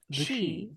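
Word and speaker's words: sidhe: ourselves the she H so you would prefer she or the they s i d h e it's silven for Fairy it's pronounced the she I was asking for your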